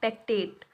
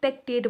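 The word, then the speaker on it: pectate: First दिया हुआ है काइटिन, सेकंड दिया हुआ है सेलुलोज, थर्ड दिया हुआ है एल्गिनेट एंड फोर्थ दिया हुआ है पेक्टेट।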